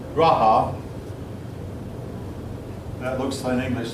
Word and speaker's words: Raja: Their kings were called Raja. That looks in English like it should be pronounced.